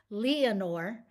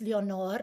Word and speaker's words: Leanor: Anytime I'm in the South, they say, Leanor. It's Leanor. And in Spanish, it's Leonor, and it's the Spanish version of Eleanor, right?